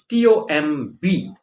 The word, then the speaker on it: tomb: another word that is t-o-m-b t-o-m-b is pronounced tomb pronunciation is like t-o-o-m so t-o-m-b-2 do remember